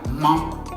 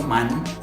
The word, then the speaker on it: main: Y, por ejemplo, tenemos palabras como la main. ¿Se fijan? Y es muy nasal. No digo man, como en español no es man. Es la man.